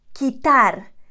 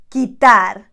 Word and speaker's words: quitar: This one can be tricky to pronounce if you do not know the pronunciation rules. It's quitar, quitar, quitar.